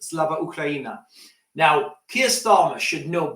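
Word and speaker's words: Слава Україні: Starmer added, if you see Keir Starmer do his speech when he says this, so this should be pronounced Slava Ukraina.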